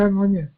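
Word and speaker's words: Mojmír: His name is Mojmir, I believe. Is that correct? You don't pronounce it? Yeah, Mojmir.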